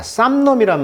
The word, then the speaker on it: solemn: 자, solemn이란 말은 이 M이 묵음이거든요. 그래서 solemn 하면은 그 묵직한 뜻이 되겠죠.